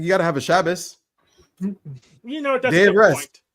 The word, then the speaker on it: Shabbos: Shabbos. That is It's how you pronounce it correctly.